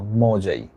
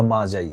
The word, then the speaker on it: Magi: দ্যা gift of দা মজাই উচ্চারণটা হবে মজাই বা মাজাই গিফট অফ দা মাজাই দেখতে অন্যরকম লাগে যদিও ওয়ার্ডটা উচ্চারণ হবে গিফট অফ দা মাজাই অর্থাৎ মজাইয়ের উপহার মজাই